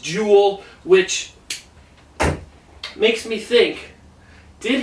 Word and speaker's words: Joel: guy juel Ericson e it looks like Joel but it's pronounced Jewel which makes me think